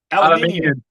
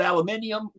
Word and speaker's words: aluminium: made out of aluminium i know y'all call it aluminium we call it aluminum this is the point like we say how it's spelled no you can you look at it can also say aluminum i love it i